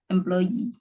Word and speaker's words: employee: karyawan bukannya majikan tulisannya bacanya I employee -nya 2 kan itu ya dibacanya I Kayak misalnya lebah tulisannya b e e Bacanya apa I am